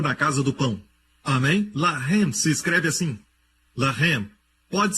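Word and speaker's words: לָחַם: Mesma escrita, a única diferença é a pontuação. Eles colocam os pontos em diferentes lugares. Um é Lehem, o outro é Lahem.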